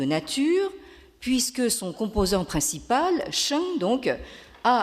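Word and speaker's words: 生: côté de la diapositive, qui se prononce en chinois moderne Sheng.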